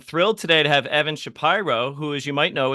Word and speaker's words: Shapiro: most other podcast hosts who who do not pronounce my name correctly Shapiro yes of course I will not make that